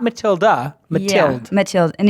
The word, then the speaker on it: Mathilde: my guest today is Matilda I got Matilda right yeah not Mathilde Mathilde Mathilde and it's hard that the D is